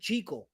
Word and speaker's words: Jekyll: Not Jackal and Hide. So, I I guess you weren't here for the first few minutes, but in the 1931 Jackal and Hyde movie, they actually pronounced his name JL.